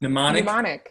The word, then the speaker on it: mnemonic: Mnemonic, yeah.